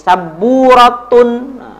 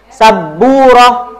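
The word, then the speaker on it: سبورة: Nah, ini teman-teman, kalau teman-teman sebelumnya pernah belajar bahasa tentang sabburah, nah, teman-teman jangan dikasih arokat akhir ya, jangan kasih saburatun, jangan. Saburah aja ya, roh aja.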